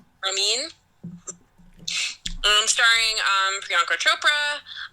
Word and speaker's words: Ramin: I want to make sure I pronounce the director's name correctly. Um, where's the director information? Um, directed by Ramen Baharani, Ramin, and starring um, Priyanka Chopra.